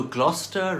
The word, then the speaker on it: Gloucester: Foster went to Gloucester in a shower of rain. He stepped in a puddle right up to his middle and never went there again. So Gloucester rhymes with Foster.